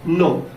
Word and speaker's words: know: आप इसमें पढ़ लीजिए वर्ड को, KNOW, नो, नो मीन्स क्या होता है, जानना, NOW, इसको आप क्या पढ़ेंगे, अब इसको तो आप नो पढ़ रहे हो, लेकिन इसको क्या पढ़ोगे, नाउ, नाउ पढ़ेंगे। नाउ मीन्स नो मीन्स जानना। आप देख रहे हैं एन से पहले के है, के क्या बना है, साइलेंट है।